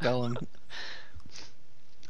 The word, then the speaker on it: Golem: go I just think it is actually pronounced goem okay well I'm 100% certain that you're wrong about this cuz I started a thread like two years ago that was like how do you pronounce Golem it's not gollem you started a thread